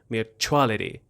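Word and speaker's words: mutuality: اول به تلفظش دقت کنید. میگم میچالتی میچالتی اون استرس اون بخش چوا هستش میچالتی.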